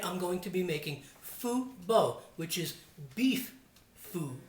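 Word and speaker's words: phở: to be making Vietnamese food both they here in the States a lot of people pronounce it pho and that's not how it's pronounced it's foo or and it's the food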